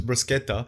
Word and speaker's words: bruschetta: First of all, it's bruschetta and that's bread. It's not fucking meat. Prosciutto. Oh, bro. I said bruschetta.